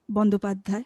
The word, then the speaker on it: Bandyopadhyay: I'm pronouncing like exactly Bengali pronounce like this, Bandyopadhyay, Pulak Bandyopadhyay.